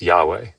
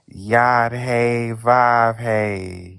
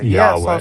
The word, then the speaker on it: Yahweh: It's Yahweh. No, his name is Yad Ve. No, those are the four consonants. It's pronounced Yahweh.